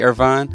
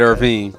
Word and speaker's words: Irvine: It's not wrong because half of his family does say Irvine, Wow. but he said Irvine.